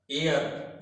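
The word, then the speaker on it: hour: लेकिन एच यहां पे क्या है? साइलेंट है, म्यूट है। इसका कोई प्रोनाउंसिएशन एच का नहीं है। और जो साउंड आ रहा है वो किसका आ रहा है? साउंड आ रहा है वोवेल का। क्यों वोवेल का साउंड आ रहा है? वोवेल का साउंड इसलिए आ रहा है क्योंकि यहां पे एच म्यूट है, साइलेंट है।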